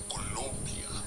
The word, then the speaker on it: Colombia: No, I gotta pronounce it right. Colombia.